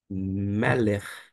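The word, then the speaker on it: מלך: Esta consoante com esse pontinho, ele vai ter um som, digamos assim, mais arrastado, gutural. Vai ser próximo ao CH em alemão, de modo que eu vou pronunciar.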